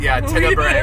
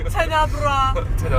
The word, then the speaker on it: Tenebrae: And Tenebrae. Tenebrae. We always say it wrong. Tenebrae.